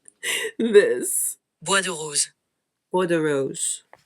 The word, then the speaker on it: Bois de Rose: Let's see how bad I was pronouncing this. Bois de Rose. Bois de Rose.